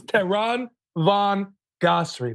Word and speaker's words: Tehran Von Ghasri: Tehran, and I want to make sure I say it right, Tehran Von Ghasri. Ghasri. Right? You were so close. It was Tehran Von Ghasri.